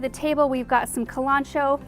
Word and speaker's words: Kalanchoe: table we've got some kalanchoe you might pronounce it kalanchoe e in our region we pronounce it culantro so that's what I'm going with there is one variety